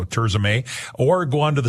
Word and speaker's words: Tirzah: tza by the way is spelled TI r z ah May maay so turay or go on to